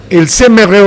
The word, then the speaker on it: ils aimeraient: So here you make the liaison, right? Because ils aimeraient, it's fine. But naturally you would pronounce it and make the liaison or the linking with the S.